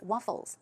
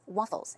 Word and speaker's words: waffles: a W right but keep in mind it's an F so it's not waffle it's waffles waffles okay and then moving